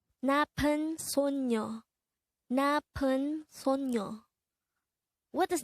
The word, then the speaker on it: 나쁜: 나쁜, 나쁜. This is pronounced as a two-syllable word. The first syllable is na, and the second syllable is pun. Pronounce it with me. 나쁜, 나쁜.